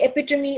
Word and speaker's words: epitome: For example, किसी भी चीज का एक जो आप कह सकते हैं बेस्ट उदाहरण हो, जैसे goddess Durga is the epitome of female strength, or Shiva is the epitome of aggression.